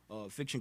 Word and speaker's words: FIKTXUN: FIKTXUN. Like fiction.